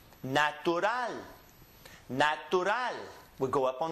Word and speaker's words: natural: It ends with a consonant, so we're going to go up on the N. So the last syllable gets emphasized, is pronounced natural.